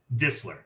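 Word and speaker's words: Distler: last one for me disler it's like it's like whistle the T is like Barely There gotcha and she is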